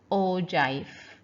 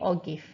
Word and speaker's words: ogive: you can see here it's pronounced o jive ogive uh well i will still say or gif okay you can you